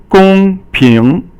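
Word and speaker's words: 公平: And the next word is gong ping, and so gong is first tone and ping is second tone.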